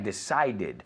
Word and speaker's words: decided: I decided. ¿Ves? Como estos son de la misma columna aquí. Needed, decided. Aquí se pronuncia la E.